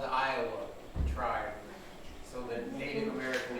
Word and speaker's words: Iowa: even know Iowa right so no not Ohio Iowa is spelled i-o-w-a in Indonesian you'd say eelwa there's Iowa Ohio and